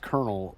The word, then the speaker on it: colonel: So that's why colonel is pronounced colonel with and not colono you know colon or